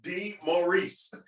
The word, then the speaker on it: DeMaurice: No, it's DeMaurice. Right. That's why I said. That's why nobody fucking trusts a name that ain't. If it don't look the way it's spelled, you can't trust him. Ain't no DeMaurice out of that. You don't see no Morris out of there like Morris Day.